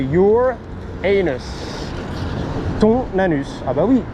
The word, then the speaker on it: Uranus: Alors c'est marrant parce que la planète Uranus, ici, si tu veux le prononcer, c'est your anus.